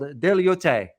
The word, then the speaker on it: Diaoyutai: It is also known as, I found the term here, how it's pronounced in Chinese. It's called Diaoyutai.